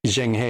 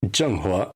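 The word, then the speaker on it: Zheng He: much of a spoiler there is a USS Jen which was how um one character pronounced the name of the ship and I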